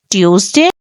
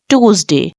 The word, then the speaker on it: Tuesday: all of you so the British pronunciation is Tuesday and the American pronunciation is Tuesday so guys if you